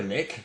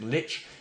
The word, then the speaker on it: Lich: We harmonise on Lich, many prefer Lick, but we've established that's incorrect, Lich, and Tiamat is Tiamat.